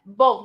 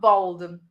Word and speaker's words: bold: Because we have bold and bald. Bold, yeah. Bold, not bald.